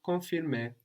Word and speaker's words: confirmer: And we don't, again, really hear that N, no? Confirmer. Confirmer. I think you arrive too much in the N. It's too better. No? So just think it, but don't pronounce it. If you feel like your mouth has already moved into that letter, it's too late already. No? You want to think it, but not arrive.